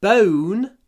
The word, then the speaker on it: bone: Кость это the bone is not broken. Здесь важно, вот в bone есть много в.